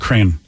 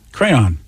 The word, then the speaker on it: crayon: is going on I've never heard of called crane c-r-a-n crayon yeah I've never heard cram crayon am I saying it right crayon yeah you are that's how I was raised